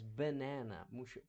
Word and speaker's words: banana: para cima banana banana ela não tem som tão aberto como no Brasil né banana inglês é mais banana puxa mais para we